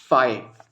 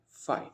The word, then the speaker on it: phi: This symbol is known as फाई, PHI, फाई, alright?